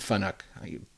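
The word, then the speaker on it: FANUC: to the finook and you'll hear it pronounced fanic and Funk it's used interchangeably so that's one way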